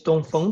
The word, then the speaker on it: Dongfang: for me was was Dongfang. And is that how you say it? Yeah. Don't phone or in Chinese it's don't phone.